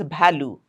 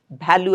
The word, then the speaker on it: value: Lot of people say it as value. Value added. No, it's not value. It's value. Van.